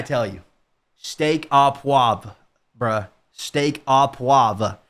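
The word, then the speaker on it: steak au poivre: Steak a puave.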